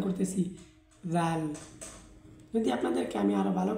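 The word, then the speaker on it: ذال: জাল, জাল, জাল, ঠিক এভাবেই জাল উচ্চারণ হয়। তো জাল এর মাখরাজ কোথায়? জাল এর মাখরাজ হচ্ছে জিহ্বার ডগা।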